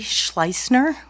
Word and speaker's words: Schleisner: Schleisner. Would you like me to spell that?